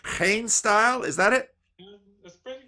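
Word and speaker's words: GeenStijl: to say, learn how to say this name, Hain style. Is that it? That's pretty good, pretty good. Yeah. Say it for me. Geen style.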